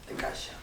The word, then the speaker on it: Cascia: Santa Rita de Cascia, que sí, pero se pronuncia Cascia, porque es italiano.